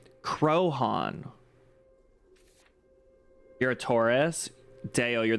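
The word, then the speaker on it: Croaghaun: The fictional big house situated on its slope is named after it, pronounced Crohan.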